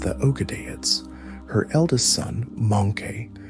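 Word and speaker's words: Möngke: Her eldest son, Monke, pronounced Monke, was elected as the fourth Great Khan.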